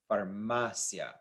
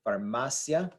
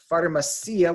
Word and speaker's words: farmacia: this is pronounced formacia farmacia the stress is right here the I and the a blend together to make a single syllable farmacia so we when we